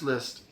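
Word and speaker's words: Liszt: France list France I'm sorry France list. Say it correctly. France list. L I sz.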